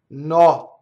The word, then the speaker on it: notte: O notte, so double N, double T, notte. It's the same principle of